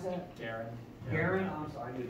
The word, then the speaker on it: Guerin: So this is the, is that, how do you pronounce that? Guerin.